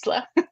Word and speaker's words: Isla: really don't mind but if you ever see me pronouncing it it's always gonna be Ela so everybody just just